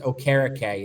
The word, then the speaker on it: Okereke: That was their, or actually it's Okereke is how it's pronounced.